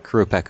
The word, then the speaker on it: Qurupeco: and playing with fire where we hunt a crew Peck oh did I finally pronounce that right yep thank God actually we're